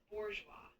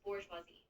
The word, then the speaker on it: bourgeois: You can pronounce it as bourgeoa. The emphasis is usually on the last syllable and the sound is kind of like the s in measure. So it closes bourgeois.